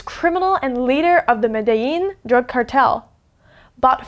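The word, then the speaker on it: Medellín: So this word, it looks like Medellin, but this is actually a Spanish word, so you pronounce it Medellin. Medellin.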